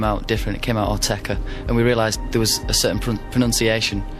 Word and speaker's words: Autechre: And how do I pronounce the group name? We call it Autechre.